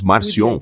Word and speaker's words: Marcion: século chamar e o Marcião o Marciano ou como quer que você pronuncie em outro idioma você terá uma pronúncia diferente mas geralmente você diz marcion ele veio com a